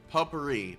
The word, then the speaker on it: potpourri: Potpourri.